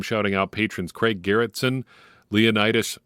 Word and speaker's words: Leonidas: out patrons Craig Garretson Leonidas Pereira or Leonidas I think if you go with the ancient Greek pronunciation and John heard appreciate